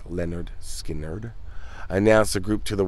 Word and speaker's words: Lynyrd Skynyrd: 1973 their debut album leonard skinner pronounced leonard skinnard announced a group to